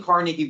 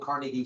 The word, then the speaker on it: Carnegie: go to free University but the big thing Carnegie would do after he sold Carnegie still yes it's not Carnegie it's Carnegie I